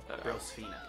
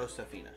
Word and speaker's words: Brosefina: Okay, No reason to add more syllables in there. Oh. Brosfina. Not right. Brosefina.